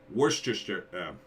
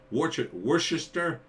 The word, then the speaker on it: Worcester: He lives in Worcester. Am I saying that right? I'm saying that wrong too. Worcester. like the sauce in the UK.